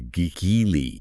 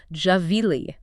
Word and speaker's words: Gvilli: So the pronunciation, the actual Hebrew pronunciation, the way his family says his name, the way his unit would have called it out is Javeili.